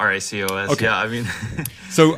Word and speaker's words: racOS: Is it pronounced racOS or racOS or? I just call it racOS.